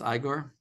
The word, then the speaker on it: Igor: I think it's pronounced Igor. It's Igor.